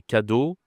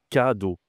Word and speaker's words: cadeau: Ils ont du mal à prononcer cadeau. D'accord ? C'est c do. C'est différent de gâteau par exemple.